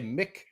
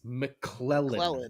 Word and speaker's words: McClellan: The C is small, so you always want to say Mick, but it's McClellan, not Mick, not McLennan.